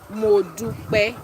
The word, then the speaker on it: Modupe: Yeah, so it is pronounced Modupe.